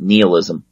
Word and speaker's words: nihilism: actually come up with nihilism and you know whether you pronounce that nihilism I've had professors that pronounce it nihilism some pronounced announced that kneel ISM doesn't matter the thing is that